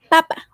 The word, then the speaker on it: papa: But the pronunciation varies. This one, as you can see, doesn't have that accent mark. We put it in the word for papa. So papa, the stress syllable is this. The one for potato, the stress syllable will be in here, in the first one.